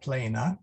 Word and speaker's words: plena: Grazia plena. Oh, sorry, grazia. Getting ahead of myself. And then plena, long E, short A.